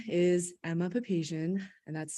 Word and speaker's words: Emma Papasian: from uh Gallatin Valley sunrise my name is Emma papasian and that's spelled e-m-m-a-p-a-p-a-s-i-a-n and I live in Bozeman